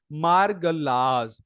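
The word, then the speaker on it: Margalla: की पहाड़ियों इस्लामाबाद में इसे आपने बोलना है मरगल्लज आपने क्या शब्द प्रोनाउंस करना है मरगल्लास और मरगल से हिमाल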